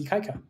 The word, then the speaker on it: Ikaika: You actually spell it out. Ikaika. Right? So it's Ikaika.